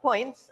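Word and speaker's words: Poyntz: we come to John points and that's point is the way to pronounce it rather than that spelling um he made 11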